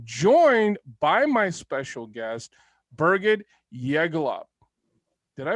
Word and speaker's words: Birgit Yegülalp: episode again i'm joined by my special guest berget jaegelop did i pronounce it oh you did really good i've been almost it just depends where you come from i pronounce it as birgit yegulo but i have to admit it's a very